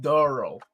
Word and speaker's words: Daryl: Daryl's actually African American, and his name is pronounced Darrell.